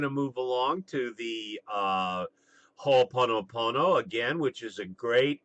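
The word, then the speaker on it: Hoʻoponopono: So now we're going to move along to the Ho'oponopono again, which is a great exercise for clearing negative energy, remote healing, difficult relationships, etc.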